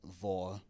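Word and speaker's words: hvor: Um so, like if you see an H at the beginning of a word in Danish next to a V, the H is always silent, so it's not pronounced. So like vor vonor.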